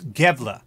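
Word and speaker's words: Gävle: that think it's satanic pronunciation is gave 'la thank you appreciate that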